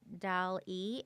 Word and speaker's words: DALL-E: It's called DAL-E, and that's spelled DALL-E. And it can come up with an image of your ideal customer.